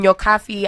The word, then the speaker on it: Nyokabi: Facebook so it is it is pronounced as an F but it is spelled as a b okay but you see